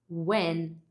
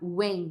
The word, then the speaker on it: when: Esse N, no final as pessoas têm a tendência fazer W, quase como se fosse a Universidade Estadual de Maringá, sabe? Wen, desse jeito. Mas a ponta da língua tem que encostar no montinho que fica atrás dos dentes de cima.